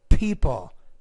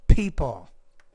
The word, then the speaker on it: people: mentions that some people when you pronounce that P you have to pronounce it with a lot more air people people buy something just because